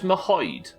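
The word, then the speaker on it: Merhojed: So it's Mahoyed. 3 syllables. Let's just fucking call it M-Town. What I don't understand is Siddle said it's 3 syllables. Hoy, as in Chris Hoy, and Yed.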